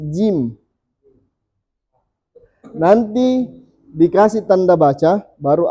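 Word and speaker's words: ج: Ini bacanya jim. Tah? Tidak boleh kita baca ja. Masih jim.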